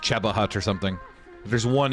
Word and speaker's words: Cheba Hut: Even though they spell it wrong and it's pronounced Cheba Hut or something.